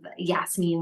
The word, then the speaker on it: Yasmin: And what kind of Yasmin, which is how you say my name in Arabic, doesn't speak Arabic so well.